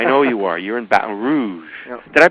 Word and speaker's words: Baton Rouge: all that I know you are you're in Baton Rouge did I pronounce that right yeah Baton Rouge Baton Rouge that's how they say it Baton Rouge Baton